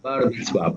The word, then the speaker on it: Bar Mitzvah: Creo que es por esto mismo, porque está viviendo en esa etapa de esta iniciación en el Bar Mitzvah. Lo digo bien, ¿no? Bar Mitzvah. Bar Mitzvah, perfectamente pronunciado.